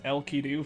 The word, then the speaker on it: Enkidu: Oh, and a fun fact, though, I think Enkidu's name in Japanese is pronounced El-Kidu for some reason.